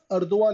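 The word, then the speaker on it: Erdoğan: तैयब अदन नाम उनका अदन एक्चुअली बोला जाता है स्पेलिंग अदवा और इब्राहिम रईसी इस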